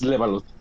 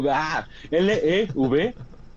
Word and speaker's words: Levalotte: Como había dicho en el inicio, es Levalot. Lo vuelvo a pronunciar por si acaso. Claro, claro. L, V, no, no, Levalot. Levalot.